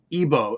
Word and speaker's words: Igbo: cool that's so cool mostly what ebo is it igbo but the g is not always i don't see it's like yeah yeah there's soft g it's a it's like